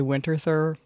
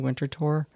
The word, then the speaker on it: Winterthur: me to pronounce because you want to say winterthur but it isn't it's actually a winter tour but then that sounds